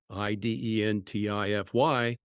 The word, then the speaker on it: Identifeye: So the name Identifeye, Identify, you've replaced the Y with the last letter Y, now becoming the word I.